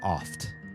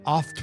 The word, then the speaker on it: oft: It's there and you pronounce the T every time.